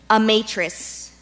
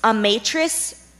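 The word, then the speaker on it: amatrice: prevalently found in Utah a matrice a matrice we repeat alternate pronunciations it's a matrix or a matrix a matrix a a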